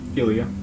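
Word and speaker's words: Ilia: Ilya.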